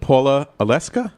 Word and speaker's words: Paula Oleska: Oh, I forgot to ask you before the show about pronouncing your last name properly, because I always get these things wrong. Paula Oleska?